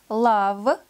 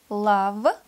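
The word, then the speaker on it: love: неуд stone камень с stone на данное правило существует также несколько исключений слова лава любить до в голубка сама несколько в этих словах буквы u читается как из краткий звук а лава да в самом еще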